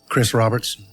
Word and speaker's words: Chris Roberts: Chris Roberts. As I was posing as a mid-Atlantic accented, dodgy art dealer, I had to get my American R's in.